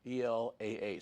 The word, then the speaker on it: Elah: our descendants here of Jeroboam, whose name was Elah, E-L-A-H. Some pronounce it Elah, but he only reigned a short period of time too.